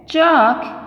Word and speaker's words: chalk: t is silent here chalk l is silent chair badge dhd is